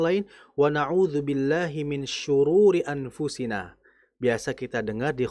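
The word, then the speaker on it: شرور: kejelekan-kejelekan diri kita tapi ada beberapa yang membacanya w naudahi min sururi anfusina kita meminta perlindungan dari Allah agar tidak bahagia.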